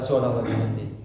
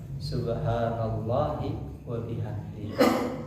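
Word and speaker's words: سبحان الله وبحمده: Bukan subhanallah wa bihamdi. Itu enggak. Subhanallahi wa bihamdi.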